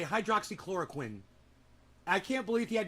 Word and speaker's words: hydroxychloroquine: Hydroxychloroquine. I learned how to say it pretty quickly. Chloroquine. You know, think of the guy from Dexter. Quinn. Chlorine. Hydroxychloroquine. It's fucking easy.